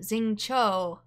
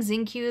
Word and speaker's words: Xingqiu: to be passing by I have been pronouncing this wrong the entire time Zing Cho it's Zing Cho I've been saying zinu this whole time I'm so sorry since